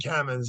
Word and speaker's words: Kamins: Is that how you pronounce it? Is it Caymans? Aidala, Bertuna, and Caymans, yeah.